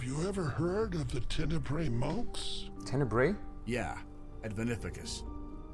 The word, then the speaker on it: Tenebrae: At one time, the Tenebrae Order had temples Tenebrae. all across Antilor. That's the pronunciation.